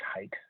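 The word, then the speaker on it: Haidt: i d t it's his last name let's pronounce height i had lunch with him once at a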